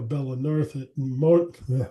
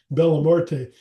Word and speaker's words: Bella Morte: I never would have met, you know, Bella North. I always say their name wrong. Bella Morte, um, without doing searches and finding them and listening to them.